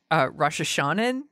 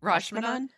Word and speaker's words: Rashomon: So I watched Akira Kurosawa's Rosh Hashanah, I think is how you pronounce it. Rashomon.